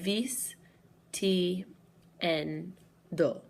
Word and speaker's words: vistiendo: So the natural emphasis on a word goes on the second to last syllable. So here we have vis, ti, en, do. our second to last syllable is going to be N. So that's where the natural emphasis falls, vistiendo.